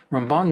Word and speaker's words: Ramban: Now, Ramban is different from Rambam. That's why we emphasize the other syllable.